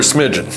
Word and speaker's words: smidgen: Short for smidgen, which rhymes with pigeon.